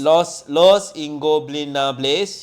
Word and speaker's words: Los Ingobernables: I can't pronounce it, bro. We have done this dance before. I know. Los Ingobernables. Los Ingobernables.